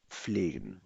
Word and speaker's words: pflegen: Wir lassen unseren Garten pflegen. Pronounce with me, pflegen.